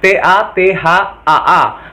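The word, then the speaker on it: तथा: Bisa kalian menggunakan tatha, tulisannya T-A-T-H-A-A, tapi dibacanya tatha.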